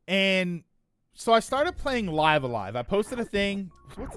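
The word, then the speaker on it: Live A Live: I started playing Live Alive. I think I'm just not in the mood to play it. Oh, I'm sorry. It's pronounced Stone. It's pronounced Live-A-Live.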